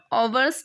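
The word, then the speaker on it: hours: हैं, ओवर लिखते हैं, इसका जो एच होता है वो साइलेंट रहता है, ठीक है।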